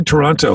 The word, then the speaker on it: Toronto: didn't know that Alexa how do you say it uh like Toronto like it's almost like the second T isn't there same with Vancouver is